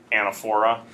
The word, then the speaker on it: anaphora: Is it anaphora or anaphora? Both Yeah, come on. both are acceptable. The Americanized version is anaphora. The original pronunciation, British, would be anaphora.